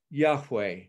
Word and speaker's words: Yahweh: root i am and it probably would have been pronounced something like yahweh that's what most jewish scholars believe it was pronounced i say probably because